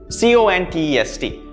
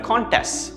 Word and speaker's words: contest: But that's a contest, right? Contest. But did you also know that if you pronounce it this way, contest, it means to fight against something, to say that no, what you're saying is wrong, I'm contesting it.